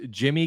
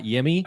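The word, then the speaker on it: Yimi: was a trade for apparently this is pronounced Jimmy Garcia not yimy and he is probably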